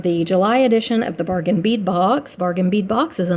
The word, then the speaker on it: Bargain Bead Box: just drives me insane it's not bargain beat box it's bargain bead box it's beads so yeah